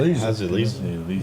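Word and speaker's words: Leeza: Do you pronounce it Liza? Is that how? Did I do that right? Lisa. I was close.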